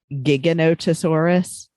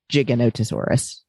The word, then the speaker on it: Giganotosaurus: driving him crazy was they kept calling it giganotosaurus um and it's actually pronounced in the paleontological community giganotosaurus so that was a little annoying but for